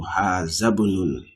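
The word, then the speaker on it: هذا ابن: And I told you always when you see the hamzatul wasl, you will take the pronunciation to where the school is. So you see hazab, as if you are moving, you are jumping the alif there.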